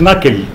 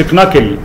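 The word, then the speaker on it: knuckle: ارش، لكن تقول اورتيك ناكل، وخلي بالك ناكل كي الاولانيه كي ما بتتنطقش، ما تقولش كناكل، هي ناكل الكي سايلنت.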